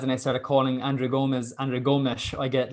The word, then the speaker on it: Gomes: they the correct pronunciations the gomez one was fairness it was actually that's what they say in european portuguese gomez gomez but um like i